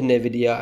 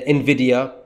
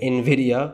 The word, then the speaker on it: Nvidia: Tesla then we can go into Nidia and then Nvidia not Nidia Nvidia I know you guys